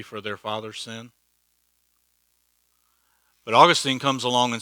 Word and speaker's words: Augustine: It's pronounced Augustine, but I'll let you say Augustine.